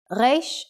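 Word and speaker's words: ריש: The pronunciation of the Hebrew Reish is similar to the French R sound. Try to make the sound from the throat, rolling the R as if you are gargling water.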